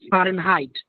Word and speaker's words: Fahrenheit: Next. Fahrenheit. Fahrenheit. Yes, exactly. Fahrenheit. Fahrenheit. Not heat. It is Fahrenheit.